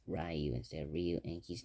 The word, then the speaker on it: Ryu: The most and Ryu sucks because he doesn't have the Hadouken, Shoryuken, and his name is mispronounced Ryu instead of Ryu, and he's not the main character.